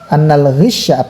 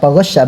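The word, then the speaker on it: غشّ: Nah, tapi fa in furidu annal ghishya, ghasya bacanya ya. Ana belum ditahqiq, nanti kita tahqiq lah insyaallah ya. Kalau campuran tadi, soalnya ini masdar ya. Nah, kalau lihat dari isim maf'ulnya, masdar ini ghasya bacanya.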